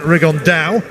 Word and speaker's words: Rigondeaux: That's coming up in about 3 weeks, and Tete's talked about fighting Rigondeaux, or as he's correctly pronounced with the Spanish accent, Rigondeaux.